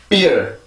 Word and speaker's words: beer: 비어라고 쓰는 발음인데 요 소리가 지금 이 소리와 같은지 한번 보세요. beer, beer, beer.